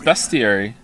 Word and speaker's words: bestiary: No, it's pronounced bestiary.